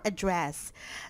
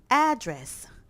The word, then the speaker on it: address: Let's go for address. So actually, in this case, there's a lot of pronunciation. It depends on the meaning. First, address. Address. The stress is here.